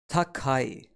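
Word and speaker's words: 高い: up of boxes and we pronounce it as Takei a good way to remember Takei for high or tall is too high it's too high Takei for example we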